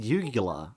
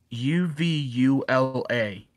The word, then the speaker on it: uvula: ucula it's a uvula I heard it called yugula like the the ball thing in your throat that is there is no G in uvula oh my God how